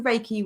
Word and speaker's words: Reiki: So I'm a spiritual mentor, Reiki master and tarot reader, and I work with my clients delivering Reiki.